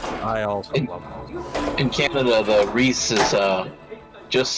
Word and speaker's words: Reese's: like you don't say reese it's reese's and they showed me the package and i was like okay drew canada apparently they decided it's gonna be rhys huh and to anyone